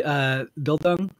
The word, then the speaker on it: Bildung: So first off, am I pronouncing this word correctly, Bildung?